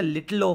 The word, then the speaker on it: little o: error term is a little o function. Okay, so this is pronounced little o. Little o.